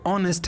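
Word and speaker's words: honest: H starting में silent होता है, फिर बीच में साइलेंट होता है, कुछ एक्सेप्शन है। तो यहाँ पे देख सकते हैं, यहाँ पे ऑनेस्ट है, गोस्ट and hair and our, what and where.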